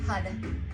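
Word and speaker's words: Har: your meditation the word HUD Sanskrit is spelled h-a-r but we pronounce it HUD and bounce the tongue off the roof of the mouth HUD is another name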